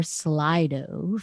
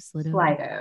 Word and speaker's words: Slido: move on to our slido for now did i say it right slido slither it's slide over okay i wasn't sure um